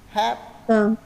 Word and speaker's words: happen: Có những từ nó nghiêng sang E, nên là theo mình sẽ phát âm theo cái âm trung gian của nó thì đỡ bị lẫn giữa hai từ này. Happen, happen.